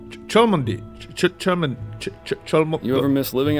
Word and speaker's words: Cholmondeley: What was this pronounced? Cholmondeley.